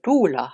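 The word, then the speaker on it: Tula: So we have Valja Harkonnen, we have Tuula Harkonnen, and we have Harro Harkonnen.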